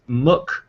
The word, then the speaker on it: MOOC: So I have to say, there's one person that I've noted who pronounces MOOC as MOOC, to rhyme with book, which would totally work for your MOOC club.